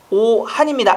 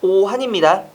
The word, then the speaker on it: 오한: 자, 4번 잠언이라고 읽는 건 맞고, 두 번째 오한입니다. 악한이 아니라 오한입니다. 미워할 오화에다가 찰한 자를 써서 오한이라고 해야 되고, 그 다음에 사치 맞습니다.